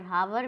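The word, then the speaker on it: hour: से लेटर, तो हावर, हावर में एच है जो हमारा साइलेंट वर्ड है, ऑफ्टेन, ऑफ्टेन में हमारा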